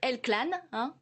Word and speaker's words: El Clan: pièce de théâtre un film ce film c'est elle-clan prononce comme ça qui sort aujourd'hui en salle qui